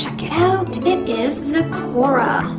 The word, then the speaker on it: Zecora: then we have oh boy am i gonna pronounce this right let's check it out it is zakora zecora the magical mentor love the earring check out